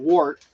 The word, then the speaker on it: wort: Now that my malt extracts are in, I'm going to bring what's called wort, or wort, depending on how you want to pronounce it. It's spelled W-O-R-T, but some people pronounce it wort, like W-E-R-T.